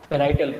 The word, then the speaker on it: parietal: सर जो second number पे cell है उसका एक बार स्पेलिंग बता दीजिए। पैराइटल, PARIETAL, पैराइटल।